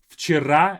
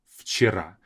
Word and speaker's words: вчера: We say вчера, as if it's an F sound.